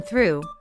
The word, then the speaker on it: through: To pronounce the th in through, we make loose contact between the tongue and the back of the teeth and push the air through the gap. This is a voiceless sound, so we don't have